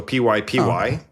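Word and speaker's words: PyPy: So py py that's pi.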